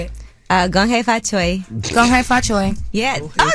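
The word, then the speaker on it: 恭喜發財: Gong hei fa choi.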